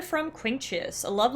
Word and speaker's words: Quinctius: Quinctius, that's how you pronounce it.